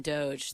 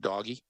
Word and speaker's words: DOGE: well first and foremost I was hoping it would be pronounced doggy but I guess it's Doge that's what I'm there